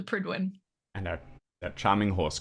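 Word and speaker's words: Prydwen: from Fallout 4 and that's how I know how to pronounce it it's the pridwin and that that Charming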